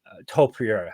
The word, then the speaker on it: Topuria: Topuria.